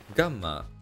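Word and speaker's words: γάμμα: i had to learn gamma nowadays it is pronounced more like a devoiced g like amma delta in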